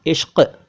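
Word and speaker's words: इश्क़: देखिए, इसको पढ़ना चाहिए, इश्क की गलियों में न जाना इश्क बड़ा बदनाम है, यानी कि इश्क नहीं, इश्क।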